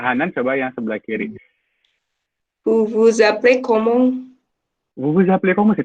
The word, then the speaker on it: vous vous appelez comment: Yang harus diingat S sama A-nya jadi Z.